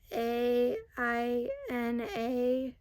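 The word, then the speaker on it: ʻāina: I think it's spelled like AINA or ANA, but the first A has like a line on top. So instead of it being like apple, it's now pronounced I.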